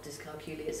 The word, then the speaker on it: dyscalculia: I always just say it rhymes with peculiar, but right.